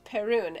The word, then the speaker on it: Perun: My name is pronounced Perun, and I'm a guy."